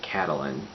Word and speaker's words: Catelyn: And then over in Riverrun we have Catelyn, which I believe that is how you pronounce it, Catelyn.